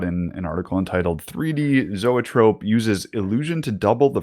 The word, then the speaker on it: zoetrope: Because we don't know how to say zoetrope. Composed of the words from Greek. Zoetrope. This YouTube pronouncer says Zoetrope. Zoetrope. It says it's from Tropos.